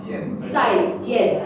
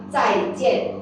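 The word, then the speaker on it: 再见: You need to pronounce the tone number 4. Okay, you say 再见。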